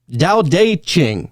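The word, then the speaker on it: Tao Te Ching: I heard the story about how the book was created uh whenever we're talking about the taochi ching ta or chao dao dao deqing.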